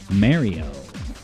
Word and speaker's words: Mario: friend from New Jersey says it as Mario you know like yeah get married pronounce just like the word married now what is up